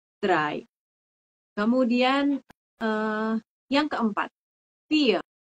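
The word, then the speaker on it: drei: lagi a yang ketiga adalah dry ingat ya ei I bacanya jadi ai dry kemudian eh yang keempat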